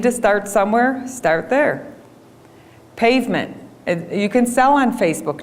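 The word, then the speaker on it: Payvment: Pavement. You can sell on Facebook now. So now, and it's spelled kind of funny because that is how it's spelled.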